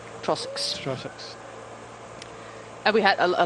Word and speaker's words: Trossachs: Trossachs? Right, Trossach? second time, Trossachs. Trossachs.